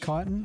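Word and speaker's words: chitin: Is it pronounced kitan? I believe it is the shell and the base.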